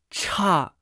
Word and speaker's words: 差: voz alta ch ch cha cha ch ch se pronuncia con el cuarto tono ch puede tener varios